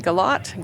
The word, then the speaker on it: Galot: My name is Galot. Galot rhymes with dot, and I wrote the Dot to Dot in the Sky series.